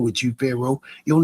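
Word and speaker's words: Faro: The world knows Pharaohs to be kings, my My name is spelled fashion pharaoh. F A R O.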